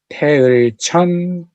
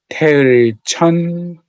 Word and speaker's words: Taeeulju: I'm going to say each word, pronounce it properly. Hum chi, Taeeulju Sangwon-gun. I'm going to say it one more time. Hum chi, Taeeulju Sangwon-gun.